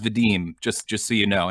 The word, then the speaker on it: Vadim: all the time um my name is pronounced vadim just just so you